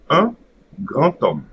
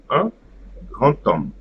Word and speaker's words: un grand homme: So here, we have a silent D, so it will create an extra letter T before at the beginning of the second word.